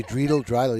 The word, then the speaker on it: Dreidel: I would say Dreidel, yeah. Okay. We'll just call him. How's that? All right. I would say Dreidel. You got to say it like you're from Jersey.